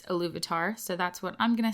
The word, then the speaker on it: Ilúvatar: I know in the audiobook that I listened to, it's pronounced Ilúvatar, but as far as I understand from the other Tolkien people I've talked to and listened to, it's Ilúvatar, so that's what I'm